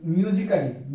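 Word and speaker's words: musically: यदि ए के बाद एल डबल वाई ले ले आए तो ए साइलेंट होता है। जैसे कि हम इस उदाहरण में देख सकते हैं, म्यूजिकली म्यूजिकली लिखा हुआ है,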